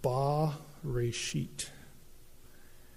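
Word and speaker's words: בְּרֵאשִׁית: like a capital t and it would be pronounced ba resheet that's called in hebrew the definite article just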